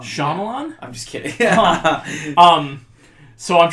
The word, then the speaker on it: Shyamalan: Shyamalan. No, you said it wrong. Shyamalan?